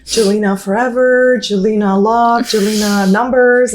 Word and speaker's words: Jelena: So my social is yelena.nyc, which is spelled with a J, which makes my name so complicated. So, it's Jelina.